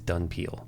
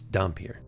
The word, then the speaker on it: dhampir: I can't refer to it as dunpeal. That's stupid. It's dhampir.